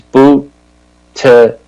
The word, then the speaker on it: Buttigieg: But I like this guy, Peter Buttigieg, and his last name is Buttigieg, and it's Buttigieg, J-E-J. That's how you pronounce it.